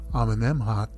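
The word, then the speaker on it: Amenemhat: that pronunciation just now i remembered that name because it sounds like what you'd say if you ate a jalapeno flavored m m m m hot back in the day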